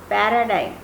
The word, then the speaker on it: paradigm: The last segment, D-I-G-M, will be pronounced as dime, as is shown in the phonetic symbol, dime, dime. Paradigm, paradigm, not paradigm.